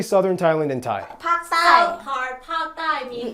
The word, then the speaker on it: ภาคใต้: Pak Thai.